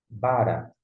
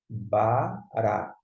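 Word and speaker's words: ברא: Bará. Como é que você sabe que é bará e não bara? Geralmente no hebraico sempre vai ser a sílaba tônica. Vai ser sempre nessa parte finalzinha aqui, tá gente?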